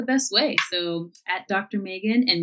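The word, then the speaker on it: Meaggan: insta is the best way so at dr megan and megan is spelled m-e-a-g-g-a-n um that's a little of my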